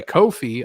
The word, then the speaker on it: Ko-fi: on my Ko-fi. I googled how to pronounce it. Finally, it's Ko-fi. Originally saw it as coffee, but Ko-fi themselves said Ko-fi.